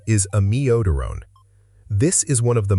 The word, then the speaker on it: amiodarone: Drug number 3 is amiodarone. This is one of the most commonly mispronounced drug names in clinical English.